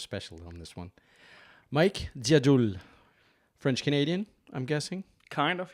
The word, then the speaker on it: Dziadul: It like basically translates to like old wise man, but my family's from Poland, and Dziadul is pronounced Dziadul over there.